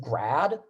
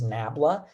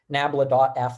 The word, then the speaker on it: nabla: the voltage field and then this thing we pronounce it grad sometimes but its proper name for that little uh triangle there is nabla nabla.f that's the divergence and that's uh like i